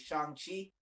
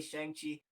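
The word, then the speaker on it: Shang-Chi: excited about definitely is shanghi apparently i've been saying it wrong forever it's it's it's i used to say shang chi a lot it's a chongqing yeah that's that's what i'm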